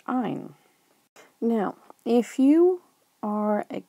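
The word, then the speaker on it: -yne: And if you are carbons and hydrogens and you contain a triple bond, you are an alkyne, and your suffix is Y-N-E, and it's pronounced "ine."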